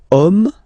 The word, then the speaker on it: homme: Okay, and then here we've got the word homme, man. Okay, but then it starts with H, as in French, H is not pronounced, so the first sound that we hear is O.